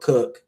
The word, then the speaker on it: Coke: before that you have Edward Cook is spelled coke c o k e uh institutes on the laws of England.